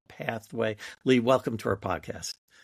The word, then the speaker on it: PATHWEIGH: Uh I'll just uh note for our listeners since uh they are listening, pathway in this case is spelled p a t h w e i g h, pathway.